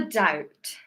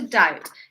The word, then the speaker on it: doubt: And yes, the B is silent, so be careful with that word.